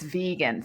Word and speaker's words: vegan: It's vegan, not vegan, because if you look at it, it might be considered vegan from, soft G, but it's vegan, they said.